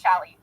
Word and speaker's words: challis: Yeah, it's challis. Challis. My mom was always pronounced challis.